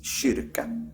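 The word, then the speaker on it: kyrka: Norwegian Ian it's K in Swedish it's shirka Kirk K shka church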